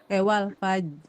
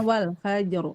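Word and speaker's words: والفجر: Nah, yang ujungnya itu suka enggak kedengar. Iya. Walas. gitu ya. As wal faj harusnya wal fajr gitu kan ya. Wal fajr. Nah, jadi banyak yang begitu. Itu cara baca yang salah.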